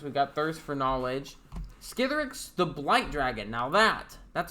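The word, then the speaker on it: Skithiryx: So $35 card, flying, infect, 3 and 2 black 4/4 legendary creature dragon skeleton, and yes, it is Skithrix, which is how you pronounce it.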